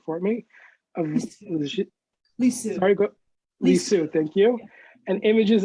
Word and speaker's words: Lisieux: Her most recent volume, A Rose from Two Gardens, Saint Therese of, I'm going to mispronounce this, maybe you could actually say this word for me, of Lisieux. Sorry, Lisieux, thank you.